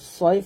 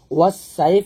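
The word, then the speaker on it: صَيْف: হবে তাহলে হবে আমরা এখানে যে ভুলটা করি সেটা হচ্ছে এখানে সদের জায়গায় আমরা সিন উচ্চারণ করি তো সদের জায়গায় সিন উচ্চারণ করা যাবে না এটা হলো মোটে উচ্চারণ করতে হবে সাইফ বললে এটা বড় ভুল হবে বলতে হবে এরকম একসাথে একসাথে সৈফ তারপর ফা লাম জবর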